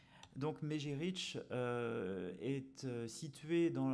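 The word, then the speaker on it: Mezhyrich: Donc vous voyez écrit Mezirich, Mejirich. Alors vous demanderez à ma collègue ukrainienne, mais je crois que c'est plutôt Mejirich, la prononciation à peu près du site. Donc Mejirich est situé à l'intersection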